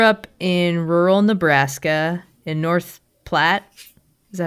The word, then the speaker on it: North Platte: You grew up in rural Nebraska in North Platte.